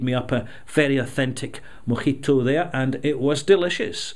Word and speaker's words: mojito: Now, as we know, the correct pronunciation in Cuba is mojito.